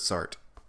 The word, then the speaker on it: Sartre: this movie is that every single character pronounces it sart yep they they don't say sartre which i know is a big pet peeve of yours i was like oh